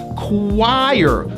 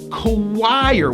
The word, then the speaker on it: choir: it's spelled like this we pronounce this word as choir with a strong hidden w sound choir with a high i going to an r choir the choir performed at